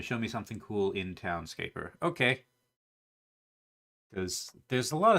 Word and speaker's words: Townscaper: we've seen before and it's not town scraper i've been saying that wrong the whole time in fact i appear to have i appear to have said it wrong in the title even let's fix that down scaper i keep thinking town scraper like skyscraper but no it's townscaper like landscaper or something like that cobalt all right to